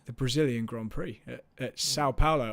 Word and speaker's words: São Paulo: The Brazilian Grand Prix at Sao Paulo, or São Paulo, like with an N. That's kind of how they pronounce it in Brazil. Yeah, they always say São Paulo.